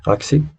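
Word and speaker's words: ASCII: Por ejemplo, aquí nosotros vamos a meter, vamos a buscar en internet AXI, que así se escribe, A-S-C-I-I, y vamos a ver,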